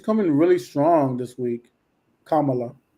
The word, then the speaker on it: Kamala: I remember the uh the thing to remind you is Kamala mamala Kamala M I learned it